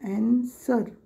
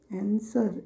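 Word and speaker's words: answer: एस डब्ल्यू इ आर इथे डब्ल्यू तो silent मध्ये राहतो अन्सर अन्सर एस इ आर चा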